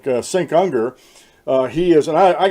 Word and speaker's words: Cenk: but it looks like it's pronounced Sink. And it starts with a C.